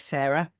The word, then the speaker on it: Cera: It's spelled C E R A like the brain version of Sarah.